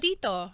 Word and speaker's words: Tito: Tito.